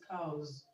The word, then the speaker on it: cows: So cows has a vowel sound preceding the S, so the S is pronounced Z, okay. So it's cows, boys, boys, etc.